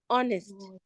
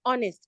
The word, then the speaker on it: honest: Swan then we have honest honest please this word honest that has letter H the letter H is silent we don't say honest